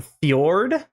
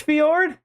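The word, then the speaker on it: Fjord: and collect that weapon howling fiord I think it's pronounced fiord not with Landing we're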